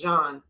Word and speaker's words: Jean: I think you say Jean or Jean. I think it's Jean. The way that it's French, so it's I think it's pronounced Jean.